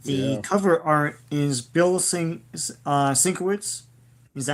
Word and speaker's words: Sienkiewicz: The cover art is Bill Sienkiewicz. Is that how you pronounce it? Sienkiewicz, yeah.